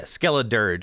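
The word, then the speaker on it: Skelledirge: So we're going to get did I say it wrong? Skelledurge? Skelleridge? Yeah, Skelledurge. All right, fine.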